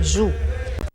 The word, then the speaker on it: Gu: Além desse filho, Puxi tinha um tuxama, ou seja, um homem de confiança, chamado Gu, só que na língua indígena se pronuncia Ju.